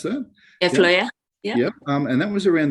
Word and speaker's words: Fløya: How do you pronounce that? Yeah, Fløya.